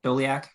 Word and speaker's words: Doliak: um I think Professor dolia did I pronounce that correctly doliak you did yeah like we're gonna